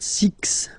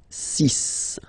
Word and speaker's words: six: so you get the sis pronunciation sis s okay so it's not six it's sis all right then here